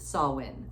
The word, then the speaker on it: Samhain: It's spelled S-A-M-H-I-N, but pronounced Samhain, which is really strange.